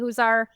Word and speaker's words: Huszar: So, like you said, uh my name is Huzar like an owl. That's how you say it.